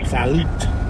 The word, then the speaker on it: Salud: The T is not silent. It's not. No. Salad. Well, so how do you pronounce it? She says salute, Salute.